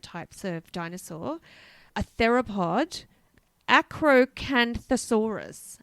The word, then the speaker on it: Acrocanthosaurus: A theropod, Acrocanthosaurus. Acrocanthosaurus. Well done, Michelle. Thank you. I had to spell that out syllable by syllable.